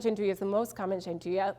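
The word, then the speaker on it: gianduja: to that rule is spelled g-i-a-n-d-u-j-a and I always say that because so many people have seen the word before but never knew how to say it our hazelnut peas our hazelnut chanduya piece hazelnut gingui is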